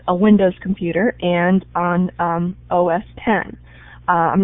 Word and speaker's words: OS X: some people pronounce that os x it's actually a roman numeral so it's os 10 and linux has ubuntu